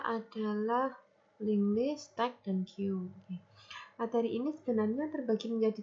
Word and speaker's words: queue: Ini bacanya queue ya.